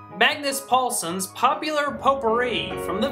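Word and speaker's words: Magnus Pålsson: ha I learned how to say it right Magnus Paulson's popular poper from the V soundtrack if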